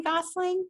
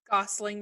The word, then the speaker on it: Gosling: you so much Ryan Gosling oh yeah he would be the one he would wait Ryan Goslin or Gosling Gosling because it's John Gosling thank you okay I'm